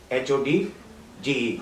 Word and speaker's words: Hodge: case Regina versus Hodge, H-O-D-G-E, Hog भी कह सकते हैं, Hodge भी कह सकते हैं, as you want to pronounce.